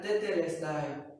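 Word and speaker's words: τετέλεσται: Por eso, esta palabra, consumado es, en griego, se pronuncia tetelestai.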